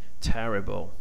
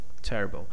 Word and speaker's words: terrible: when you pronounce it, like terrible, terrible. We have this mark, okay, represents the first stress, the stronger one, and here we have secondary stress. Okay, so we have three syllables here: terrible.